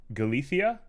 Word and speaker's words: Galicia: beautiful name sounds beautiful the c sounds like th galithia like that um i'm going to